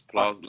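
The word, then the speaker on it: Plaistow: Is that how you say it? What's No, it? it's How you say Plaster. It's Plaster. Like Newham.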